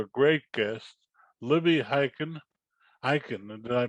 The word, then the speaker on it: Hikind: Hikind, did I pronounce it correctly? Got it. Okay, Libby Hikind.